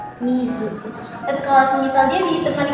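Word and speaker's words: 水: Kalau Kun Yomi tidak ada temannya, tidak ada kanji lain seperti ini, maka dibacanya miz mizu.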